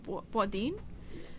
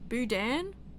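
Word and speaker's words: Boudin: Before Eugene Buden, Ben Eugene Badin Eugene Badin. Hold on. How to pronounce Wadin. Boudan.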